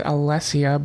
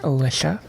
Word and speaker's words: Alessia: uh then we have i would tend to say this as alessia but i know that it it's commonly pronounced alicia i tend to really like it with the alessia pronunciation uh then we have